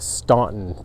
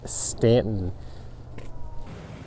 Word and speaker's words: Staunton: If you do come down here to visit, whatever you do, don't call it stunt. That's like the first thing you learn when you first come here. It's actually pronounced Stanton.